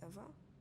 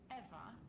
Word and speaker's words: Ewa: Did you say your name was Eva? Yes, that's right. So you have the same name as that thing? Could you please not compare me to a lifeless machine? Eva is spelled E-W-A, not E-V-E.